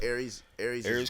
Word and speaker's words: Aries: Aries Combat Sports Academy.